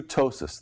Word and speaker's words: ptosis: This is a woman who has true ptosis, that's spelled with a P, P-T-O-S-I-S.